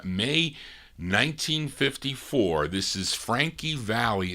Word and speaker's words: Valli: This is Frankie Valli. It's spelled Valley.